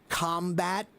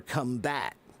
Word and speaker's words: combat: So, is it combat or combat? Well, in this case, it's both. The word combat is a noun, but the word combat is a verb.